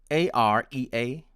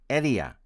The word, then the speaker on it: area: pronounce it as area area with a consonant of el and my american friends pronounce it as area area with a consonant of r next is h-e-a-l-t-h-y my